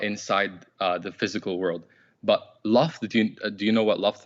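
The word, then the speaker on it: لفظ: So let me teach you how to say it. Lafz. Sah, yeah, lafz.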